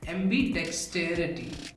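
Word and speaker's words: ambidexterity: अगर हम प्रोनाउंसिएशन की बात करें तो एम्बीडेक्स्ट्रस में डेक्स पर जोर लगेगा, एम्बीडेक्सटेरिटी में एम और टेयर पे जोर लगेगा, लेकिन टेयर ज्यादा ताकतवर साउंड करेगा। एम्बीडेक्सटेरिटी, एम्बीडेक्स्ट्रस, एम्बीडेक्स्ट्रस, एम्बीडेक्स्ट्रस, एम्बीडेक्सटेरिटी, एम्बीडेक्सटेरिटी, एम्बीडेक्सटेरिटी।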